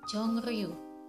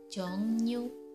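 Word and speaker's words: 종류: Untuk contoh yang kedua adalah jongri, harusnya dibaca jongriu, tapi yang benar pengucapannya adalah jongnyu. Jongnyu.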